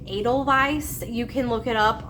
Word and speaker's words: Edelweiss: I was saying Edelweiss when I was talking about this website, and that's just how, when I see the word, I say it in my head. But Jen corrected me, and it's actually Edelweiss.